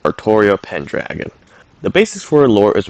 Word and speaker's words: Artoria Pendragon: a surprising amount of times but canonically it's pronounced artoria pendragon the basis for lore is rather similar to